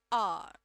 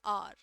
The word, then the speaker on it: hour: It is H, but H is silent, so aw, aw. I waited for him for an hour.